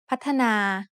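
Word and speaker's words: พัฒนา: When you look at the word พ ั ฒ น า you might see only 2 syllables, but it is actually said with 3 syllables.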